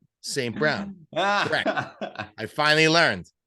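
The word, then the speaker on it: St. Brown: have to pause and you have to say it slow Saint Brown I finally learned it's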